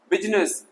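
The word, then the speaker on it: business: शुरू हो रहा है, बिजनेस ना के बिजनेस, बिजनेस नहीं, आई साइलेंट हो गया तो बिजनेस गलत हो जाएगा, इसलिए ओनली बिजनेस व्यापार।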